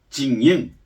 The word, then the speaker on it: 精英: 특징입니다 조선족 엘리트의 탄생 엘리트를 중국어로 징잉 한국식 발음으로 정녕 정해로운 영웅들 엘리트 잭인